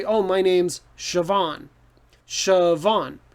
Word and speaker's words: Siobhan: name and it's pronounced siobhan so what what the heck but it's just like the french names right the letters sound different in different languages so in irish these letters make different sounds so it if you